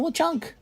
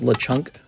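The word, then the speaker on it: Lechonk: Oh my god, there's the Lchunk. It's pronounced Lechunk.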